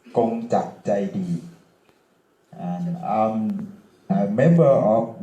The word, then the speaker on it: Kongjak Jaidee: My name is Kongjak Jaidee, in Thai pronounced Kongjak Jaidee, and I'm a member of World Party Thailand.